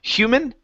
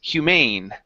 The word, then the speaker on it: humane: here this one here instead of human this has an e at the end the word is Humane oh my God Humane